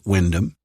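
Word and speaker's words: Wymondham: Grant replied, pronouncing the town's name Windham. Not for the first time, Naomi wondered why so many towns in Norfolk sounded so different to their spelling.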